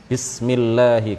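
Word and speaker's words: بسم الله: Bismi itu nggak ada kan? Jadi ba, setelah ba kemudian sin, kemudian setelah itu mim, ya. Bismillahi.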